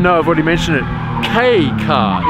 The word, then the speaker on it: kei: The yellow number plate means it's a K car, and it's pronounced K, not key, okay?